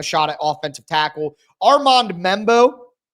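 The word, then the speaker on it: Membou: Armand Membo, I've heard him called Membo, Membu, all different kinds of things. It's like every time I think I know the pronunciation, I see it differently, but I think it's Armand Membu. That's what's in the Beast from Dane Brugler, so that's what I'm going with.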